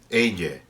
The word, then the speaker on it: ella: That's how I pronounce ella. That's how most speakers of Spanish these days in Spain and Latin America pronounce ella. But what we are doing is technically called yeísmo. We're pronouncing ella as if it were a Y.